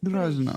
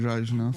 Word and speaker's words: Grażyna: Grażyna from Poland, but you never put the accent on the Y.